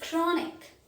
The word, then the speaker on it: chronic: that boy's character is very good ch is pronounced as curia the next word is chronic chronic that disease is chronic echo echo echo